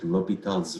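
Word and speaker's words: L'Hôpital: We write like hospital but we don't pronounce s. We read it liital's rule.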